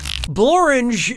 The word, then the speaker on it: Blorange: Blorange is a real place, and it really rhymes with orange.